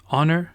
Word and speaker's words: honor: Les mots avec les H silencieux, c'est hour, honest, honor, air, H-E-I-R.